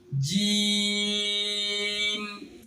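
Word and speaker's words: جيم: এই হরফটির নামের শুদ্ধ উচ্চারণ করতে হলে জিহ্বার মাঝখান উপরের তালুর সঙ্গে লেগে শক্ত আওয়াজে উচ্চারণ শুরু হয়ে দুটোটের শুকনো অংশ মিলে উচ্চারণ শেষ হবে।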